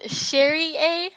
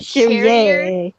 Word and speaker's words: Cherrier: It's pronounced Sherry-A, not Cherrier. Chardonnay. It's French. Yeah, it's French.